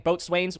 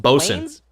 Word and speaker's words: boatswains: How do you say it? I was getting roasted for saying boatswains. What the is it boatswains? Bosun.